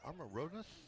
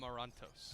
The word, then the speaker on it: Amarantos: call today coach superio is it amaros how you pronounce his last name amarantos amarantos thank you has a